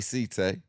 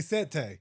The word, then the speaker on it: Setay: I say C-Tay. I Some people say Set Tay.